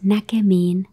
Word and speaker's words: näkemiin: It's näkemiin.